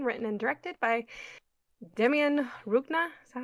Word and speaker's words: Rugna: and directed by Demian Rugna. Is that how you say his name? Rugna. Rugna. Gotta roll those R's, man.